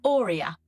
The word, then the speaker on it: OREA: So it is pronounced Ora and it's a combination of four letters O R E A.